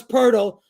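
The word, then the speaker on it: Poeltl: what his name is spelled poal but it's pronounced purle with an R I don't get that what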